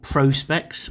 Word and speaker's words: Prospex: I say this is part of Seiko's Prospex range, so Prospex, I think, as it's supposed to be pronounced, professional specification.